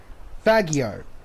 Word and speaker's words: Faggio: My red Faggio.